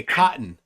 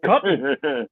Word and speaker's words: cotton: Remember, I say cotton. There's no T's in cotton. C-O''O''N. That's how we pronounce it. Cotton.